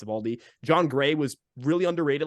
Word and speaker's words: Eovaldi: Nate Eovaldi, Eovaldi, I love this guy, and I know I just butchered his last name the first time, so